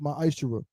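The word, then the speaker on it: מעשר: In Malachi 3:es 8-10 means 10th in the Hebrew is pronounced my isher.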